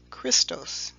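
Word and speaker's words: Χριστός: greek term for the anointed one which is pronounced christos now these two terms mashiach and christos would later be in english the word messiah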